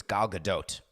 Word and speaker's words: Gal Gadot: and I read Hebrew, and in Hebrew it's Gal Gadot. So she may pronounce her name Gal Gadot, but definitely not Gal Gadot.